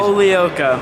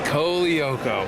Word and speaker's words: Colaiocco: Tell me the real pronunciation. Colaiocco. Colaiocco.